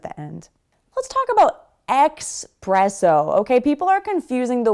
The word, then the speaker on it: espresso: Let's talk about espresso. Okay, people are confusing the word express, like fast, and espresso, a caffeinated beverage, which I love. So it's espresso, not expresso.